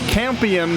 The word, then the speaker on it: Campion: possibility this season and since Campion rhymes with champion these guys would love